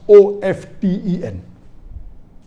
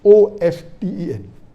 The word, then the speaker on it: often: of 10 is correct t is not silent it should be pronounced some said t sign